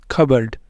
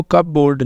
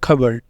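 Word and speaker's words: cupboard: पहला आ रहा है कबर्ड इसको कप बोर्ड नहीं बोलना यह है कबर्ड यहां पे पी को नहीं बोलेंगे दूसरा क्या है साइकोलॉजी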